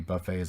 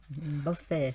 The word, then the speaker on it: buffet: or something, because many buffets are not all you can eat. Buffet. So you stress on the first word or second word, Ajahn, buffet. Buffet. Buffet. Second syllable. Second syllable.